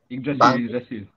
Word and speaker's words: Yggdrasil: Any student senior from Master 03 boleh tolong sebut the correct pronunciation for your guys punya bunker submission ni. Ash ke? Selected 5 je boleh masuk. Yggdrasil.